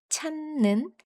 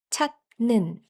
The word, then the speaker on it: 찾는: However, when a final consonant meets a nasal sound like n or m, it changes into a nasal sound too.